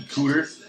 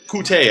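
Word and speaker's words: Coutee: It's just Corey Davis versus Kiki Cooter. Yeah, Kiki Kute. Kute, I think, is how he likes to pronounce it.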